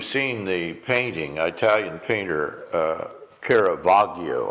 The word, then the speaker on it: Caravaggio: I don't know if you've seen the painting, Italian painter Caravaggio, I think is the way you say his name.